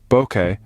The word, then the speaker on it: bokeh: that has taken the photography World by storm Boke pronounced as Boke originates from a Japanese word which